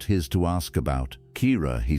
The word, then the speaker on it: Kira: But the name had been there, Kira, with the emphasis on the first syllable, the way Sarah said it, which was different from any other way Caleb had heard the name said.